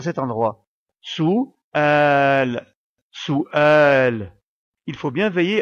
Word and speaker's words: سؤال: et pour finir la lettre Lam que nous prononcerons sans sa voyelle puisqu'on fait la pause à cet endroit sous sous al il faut bien veiller à séparer la voyelle